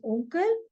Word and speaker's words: Onkel: Okay, and without umlaut, just single O, it is pronounced as O. So for uncle, it is onkel.